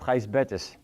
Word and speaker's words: Gijsbert: my whole first name it's pronounced heist betis this is my last